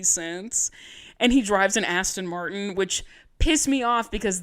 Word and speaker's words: Aston Martin: It's an Aston Martin. There's no U in the word Aston. Also, how do you not know how to pronounce a vehicle? Aston Martin.